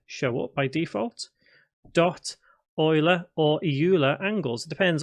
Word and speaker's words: Euler: Dot Euler or Euler angles. It depends on your pronunciation here, but it's spelled E-U-L-E-R.